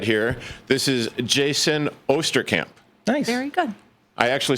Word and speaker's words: Jaysin Osterkamp: And the gentleman to my left right here, this is Jaysin Osterkamp.